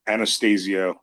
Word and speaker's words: Anastasio: He pronounces Anastasio with Okay.